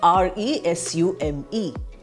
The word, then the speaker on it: resume: we have the word r-e-s-u-m-e when we use it as a verb we pronounce it as resume i start speaking i